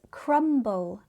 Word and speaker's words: crumble: Here, the B becomes voiced. This is because crumble now has two syllables and the B forms the start of the second syllable.